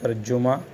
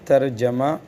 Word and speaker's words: ترجمہ: دوں، یہ ترجمہ ہے، جو ہم اردو والے بولتے ہیں ترجمہ، جیم پر پیش، یہ غلط ہے۔ اس کا اصل تلفظ عربی میں ترجمہ، اس کا وزن ہے فعللہ، فعللہ کے وزن پر ترجمہ، جیم پر زبر ہے اس کا صحیح تلفظ۔ تو جن 6 واقعات